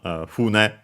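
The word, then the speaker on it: 船: If I doubt well, on its own, it's not used because you'd use the strictly Japanese pronunciation, fune, accented on the first syllable, that one, for ship.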